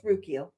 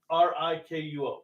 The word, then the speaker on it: Rikuo: Well, and I love it because it's Rukio. No, Rikyo. Rikuo. I thought it was RU. Not according to our subs, because I wrote down his spelling. Huh. Oh yeah. Rikuo. I've been mispronouncing it.